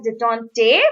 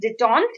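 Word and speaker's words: détente: DET en T e so you might pronounce it as de tante but it is de tonked it this word comes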